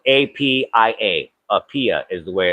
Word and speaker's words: Apia: I think there was an office for the facility in Apia, which is the capital of Western Samoa, spelled APIA. Apia is the way it's pronounced.